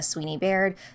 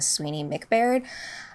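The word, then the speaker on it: Sweeney-Baird: my conversation with Christina Sweeney Baird, the author of The End of Men. I believe I mispronounced her last name in the last episode and called her Christina Sweeney McBaird.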